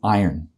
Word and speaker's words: iron: That same person will also how do they pronounce the word like closed iron? I R O N. They actually pronounce it I O R N.